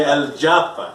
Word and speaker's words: El Japa: Eu pronuncio El Japa, mas ele quer que eu pronuncie El Japa.